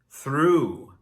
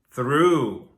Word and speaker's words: through: The GH again is silent. Through, through.